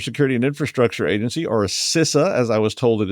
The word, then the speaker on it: CISA: In the United States, the Cyber Security and Infrastructure Agency, or SISA as I was told it is pronounced, uh announced that they would make thorium